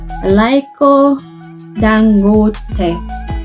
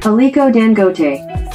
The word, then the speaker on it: Aliko Dangote: And this billionaire's name is Laiko Dangote, and I'm sure I butchered this man's name. Let me look it up. Let me see if I can get the pronunciation right. Aliko Dangote.